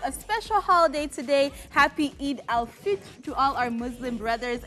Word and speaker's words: Eid al-Fitr: No, it's not ul, it's al. Eid al-Fitr.